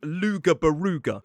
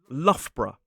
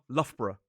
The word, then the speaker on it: Loughborough: And first up, we have one that looks like Luga-Baruga, but the pronunciation of this, ridiculously, is Loughborough. 2 syllables for me, although, as I've said, with that suffix, you may hear some people say it with 3, Loughborough. But it is definitely not Luga-Baruga.